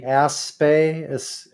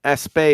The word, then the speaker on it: Aspect: uh non-locality and right Elaine aspe is his name ese yeah it's spelled like aspects yes he's fren so as